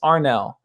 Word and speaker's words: Anel: It's pronounced Arnell. And spelled Anel. It's Bosnian, but yeah, a lot of people joke about my name and call me Anal, but I don't take it so seriously.